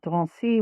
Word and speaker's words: Drancy: concentration camp in Paris called Drancy, which is spelled like Nancy with a D and N, and to Auschwitz.